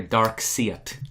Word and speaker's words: Darkseid: see Isis I said say it like a dark see it yes navy blue see